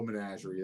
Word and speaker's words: menagerie: I feel like he doesn't know menagerie. That's 3 syllables. Yeah. Menagerie. Menagerie. That's 4 syllables, I think.